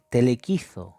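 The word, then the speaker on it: πελεκίζω: 3990 se escribe de esta forma y se pronuncia aproximadamente telequiz telequiz con z y esto significa específicamente deados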